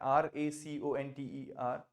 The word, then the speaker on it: raconter: raconter? Raconter. Voilà, Raconter. raconter। So people get confused between the two। This is rencontrer, rencontrer ऊपर वाला, नीचे वाला है raconter, raconter।